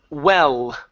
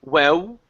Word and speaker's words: well: Next up here is well. Okay, instead of saying well, okay, pronounce an L at the end.